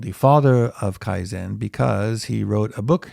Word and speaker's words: Kaizen: And it's not this Zen, so not the Mahayana Buddhism kind of Zen, but it's the same pronunciation. So Kaizen.